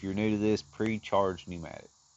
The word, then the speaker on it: pneumatic: Uh PCP, if you're new to this, pre-charge pneumatic. Pneumatic is spelled with a P, it turns out.